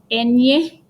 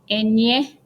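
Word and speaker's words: eñe: line on top, and the letter is pronounced enye, enye. It's pronounced like if you put in English N and Y together, nya, in a word.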